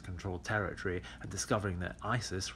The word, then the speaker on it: ISIS: territory and discovering that Isis rhymes with crisis and like those still